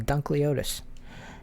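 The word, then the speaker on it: Dunkleosteus: No, I was right the first time. Dunkleotis.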